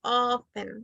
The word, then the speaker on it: often: it's not often H we don't pronounce letter T you only say often like this often often